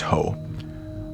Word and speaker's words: Hoh: The Ho Rainforest, pronounced Hoe, earns its name from the everflowing Ho River that carves its way from Mount Olympus toward the Pacific coast.